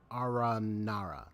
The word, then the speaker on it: Aranara: haven't grown up would believe in stories about ARA Nara so that's how it's pronounced they're Fantastical creatures from fairy tales you